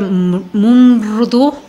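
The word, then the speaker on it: मृदु: atributo es suave se se escribe m r u d u y y se pronuncia mumu este es como una palabra muy junta eh Y lo que va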